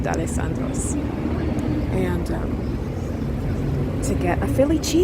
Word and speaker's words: D'Alessandro's: critically, at that, D'Alessandro's I was pronouncing it De Los Sandros, but I think a lot of people do. But yeah, it's pronounced D'Alessandro's.